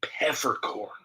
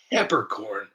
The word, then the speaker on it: Peppercorn: It's Wendy Peppercorn, the lifeguard from the Sandlot. And I I just kept hearing pepperc corn, but it's actually pronounced it's pepper corn.